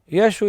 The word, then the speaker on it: Yeshu: was a Galilean, and Yeshu is the pronunciation of Yeshua in the Galilean dialect.